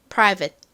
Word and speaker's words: private: 자, 발음 연습 같이 해 볼까요? private private 좋습니다.